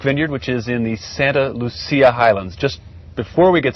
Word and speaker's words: Santa Lucia: Locals say Lucia, Lucha? Santa Lucia. Okay. Our Soledad mission is just a few miles south of us here, and so there's much more of a Spanish influence than Italian.